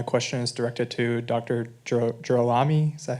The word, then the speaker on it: DeGirolami: Jerami. Is that how you pronounce it? Derami. Emphasize the raw. Okay. like a roaring lion.